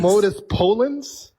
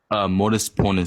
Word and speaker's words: modus ponens: modus Polens? Modus ponens. So if X is maximally Ponens? perfect, then He's Yeah. saying ponens. You guys are not listening to the double N.